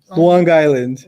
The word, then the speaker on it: Long Island: you say long island long island luang island that's how you say it okay that's how the natives say it you said new jersey